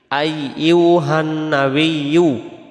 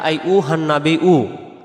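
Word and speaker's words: أيها النبي: বলব আসসালাম আসসালামু আলাইকা আইয়ুহান নাবিয়ু আমরা আত্তাহিতুর বেলায় বলে ফেলি আসসালামু আলাইকা আই উহান নাবিউ আই উহান নাবিউ পড়লে এই শব্দটার ভিতরে দুইটি অক্ষর ভুল হয়ে যাবে এটা হলো ইয়া আর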